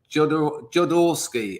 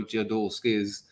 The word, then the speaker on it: Jodorowsky: Jodorowsky.